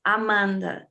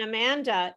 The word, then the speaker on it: Amanda: on the stress so amanda it's the second syllable so the ah the ah in amanda is not either of these sounds amanda is a mustard sound it's an uh sound but the that's why